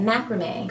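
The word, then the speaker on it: macramé: That's how you say it, macrame.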